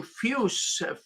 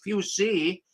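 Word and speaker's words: Fusz: a matter of fact a German name fuse fuse I heard one poor person announce it as few C and maybe that's how they pronounce it fuse Z because of the Z but few now we'll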